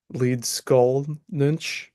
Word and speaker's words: Leedskalnin: hafron and it is the mystery of Ed lead skull ninch the lvan pronunciation of his name and uh we're going